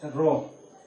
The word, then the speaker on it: rho: Both are same, and this is the symbol of resistivity which we normally pronounce as rho.